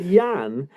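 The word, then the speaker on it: Jan: And he wasn't called Jurgen. He was called Yan. And when he played for Bushard Dortund, there was another lad called who was called Jurgen Caller. I've I've had his name wrong for 25 years. I would have bet my life his name was Jurgen Coller, but it's not. It's Yan anyway.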